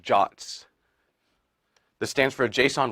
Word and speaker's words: JWT: on the slide so jwt's are pronounced jots this stands for a